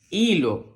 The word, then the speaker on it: hilo: delante porque que Recuerda que la H es muda la H con la i suena I la l con la o suena lo y lo hilo muy bien Vamos a